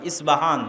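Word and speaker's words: اصفهان: আমরা প উচ্চারণ করি ইস্পাহান, আরবিতে এটা উচ্চারণ হয় না। আরবিতে হয় আল আসবাহানি, বা উচ্চারণ হয় ইসবাহান বা আসবাহানি।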